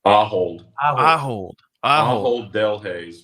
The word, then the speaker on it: Ahold Delhaize: Is it Ahold Delhaize? Ahold Delhaize, but Ahold is sufficient.